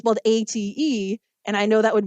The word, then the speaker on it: ate: her older cousin Bernadette it looks like it's eighth right it's both a t e and I know that would be an issue